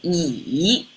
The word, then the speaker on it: 乙: And it actually pronounced almost like a Z. It's yi.